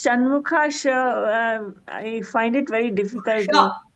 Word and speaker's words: Shanmukha: So, Bhagini, how to pronounce Shanmukha? I find it very difficult. So it has to come from the lower jaw, like almost near your throat, from the end.